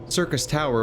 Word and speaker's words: Syrcus Tower: Circus Tower awaits us. I swear that's just how you actually pronounce it.